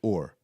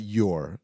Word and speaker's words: Ur: You pronounce it Ur, not your like like That was like Ur.